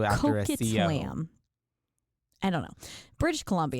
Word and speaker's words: Coquitlam: Coquitlam? It's Coquitlam.